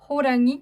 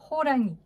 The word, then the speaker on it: 호랑이: 호랑이 qui veut dire un tigre. Donc en fait, le H, il se prononce quand même assez fort. Vous entendez H, ho, 호랑이, comme ça.